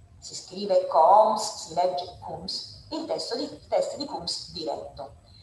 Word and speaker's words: Coombs: Si scrive Coombs, si legge Coombs, il test di Coombs diretto.